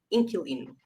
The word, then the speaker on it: inquilino: Yeah, but generally we don't pronounce the U, so it just generally most people say inquilino. Inquilino. Oh, okay. Or Inquilino. Yes, pronounced it wrong apparently. It goes against what if you've learnt a QU as a qua, it goes against that, doesn't it? In Queen, so inquilino.